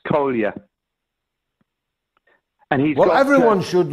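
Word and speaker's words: Kolja: Uh Jamie his his name is Kolia. It's uh it's K O L J A but but spelled uh pronounced Kolia and he's well everyone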